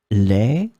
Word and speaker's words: lait: In this lesson, we will see together two words that are written differently but pronounced the same way. Lait, lait.